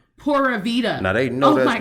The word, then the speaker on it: pura vida: people who have created i have to say it the wrong way for it to make sense p u r a space v i d a and they will say oh yeah i have my pura vita uh travel agency pura vida now they know that's me how are you using the country's phrase to make you some bank and you're not even saying it the way the country says it say what like uh-huh